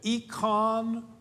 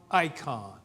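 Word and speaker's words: εἰκών: It is either e con or icon. I think it's probably e con.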